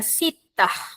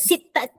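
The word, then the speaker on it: ستة: Nombor enam sebutannya ialah sittah. Sittah bukannya sittat.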